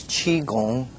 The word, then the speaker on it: Qigong: what is this method all about the correct pronunciation is Qigong it's the it's actually a Chinese character and